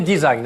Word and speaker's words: design: à l'hôtel desire for faut prononcer design à la british parce que si vous dites désigne vous passez pour un plouc ce n'est pas la